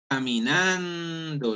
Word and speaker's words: caminando: O por ejemplo, caminando, yo hago fuerza en ando, ¿sí?